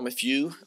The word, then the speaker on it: Mathieu: So as I was saying, I am Mathieu, or Mathieu, depending on how well you are at pronouncing French words.